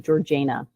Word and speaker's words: Georgiana: Oh, and I will note, because she and her friends liked to say things weird, she pronounced her name Georgiana.